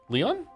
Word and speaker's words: Lion: Leon. Leon. Like a French Leon.